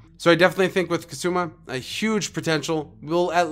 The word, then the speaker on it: Kusama: So Kusama, and I'm sorry, I been mispronouncing that. That's Kusama. It is Kusama.